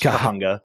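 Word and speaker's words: Cahuenga: ] is that kahunga it's pronounced kahunga kahunga while we were in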